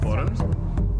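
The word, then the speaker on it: bodhrán: hear is going to Boron? Yeah, there we go. Is that how you pronounce it? Boron? The Irish frame drum? Yeah. Boron. So. It's there's a D in there, but I think it's silent.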